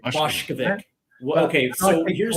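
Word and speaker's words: Vušković: Boshkovic. Well, But okay, I so think here's the thing though.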